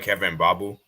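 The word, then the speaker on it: Kevin Mbabu: Are you talking about Kevin Babu? Yeah, that's how you pronounce it.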